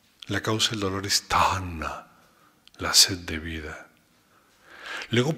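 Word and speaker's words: taṇhā: Tana es una bella palabra, no solamente verla, sino pronunciarla. Tana es t a n h a t.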